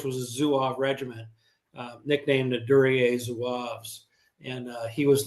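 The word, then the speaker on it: Duryée: Is it durier? Is that how you pronounce that?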